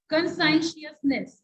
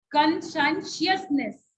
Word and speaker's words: Conscientiousness: all right, let's move to next part, conscientiousness, इसको pronounce करना थोड़ा tough है, if I'll say Mahi, can you pronounce this?